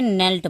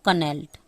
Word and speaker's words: knelt: द courtier knelt in front of Akbar and said, ये भी एक नया वर्ड है knelt, इसको मैंने नेल्ट पढ़ा, आपको दिख रहा होगा कनेल्ट।